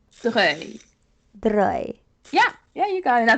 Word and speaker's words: Vaudreuil: It's Vaudreuil. Okay. Like V-O, like Vo. Vaudreuil.